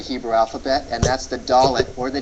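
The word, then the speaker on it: dalet: alphabet and that's the dollet or the D sound in Hebrew the dollet or the D sound in Hebrew d as in day uh this particular letter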